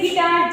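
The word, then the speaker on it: guitar: पढ़ना है क्या पढ़ना है बेटा गाइल जैसे गिटार जी यू आई टी ई आर यू आपका साइलेंट हो रहा है जी के बाद क्या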